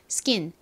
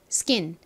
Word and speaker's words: skin: 기처럼 된 소리가 나죠 그래서 스킨이 아니라 원어 발음으로는 skin skin 이렇게 발음됩니다 스킨은 어떤 의미를 가진 영어 단어일